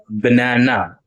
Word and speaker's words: banana: Ba, banana. Three times you heard the vowel sound, which means it has three um three uh syllables. So you stress on the second syllable here. Banana, not banana, banana, right?